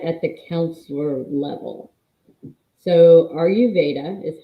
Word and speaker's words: Ayurveda: So Ayurveda is how you say it.